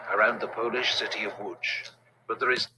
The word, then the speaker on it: Łódź: It leads to weeks of brutal winter fighting around the Polish city of Łódź. But there is... That's how you pronounce it? I thought it was like lots.